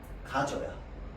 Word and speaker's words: 가져야: 가져야. 근데 얘는 발음상으로 어떻게 발음돼야 돼? 가저로 발음돼야 돼.